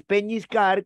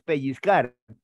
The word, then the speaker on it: pellizcar: si no es diabetes no es peñiscar con ñ si no es pellizcar y bueno de cuando